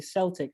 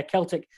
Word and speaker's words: Celtic: a celtic thing i'm well done for saying it right because most people say celtic and celtic is the glasgow football team but yeah celtic is irish welsh britney